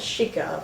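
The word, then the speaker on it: Xica: And then I got Quilombo, directed by Carlos Dieguez, who did another great film I really loved called Chica, which is spelled X-I-C-A.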